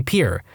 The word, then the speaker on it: Pierre: South Dakota Pier wrong she kept saying Pierre two syllables like the French name and he said was Pier one syllable like what you fish off of he was